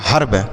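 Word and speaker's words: herb: और बी से ब तो ये लिखा गया हर्ब क्या लिखा गया हर्ब देखिए एक ही ई है लेकिन क्या-क्या उच्चारण हो रहा है क्या-क्या पढ़ते हैं इसे हम हेर्व नहीं पढ़ेंगे हेर्व र्म विर्व टेर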